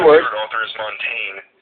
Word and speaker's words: Montaigne: And he was like so exasperatedly like frustrated that I pronounced it that way, and so he corrected me and told me it's pronounced Montaigne.